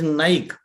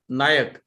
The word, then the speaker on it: Naik: fact his name is naik but in north india it is pronounced as nayak i am very much